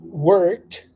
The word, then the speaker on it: worked: there all right I worked hard yesterday I worked hard yesterday you see how it sounds I barely pronounced the Ed it's just like we're